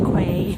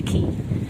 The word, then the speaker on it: Quay: I always wanted to pronounce it the Quay. No, it's the Key. Like Key, E-Y.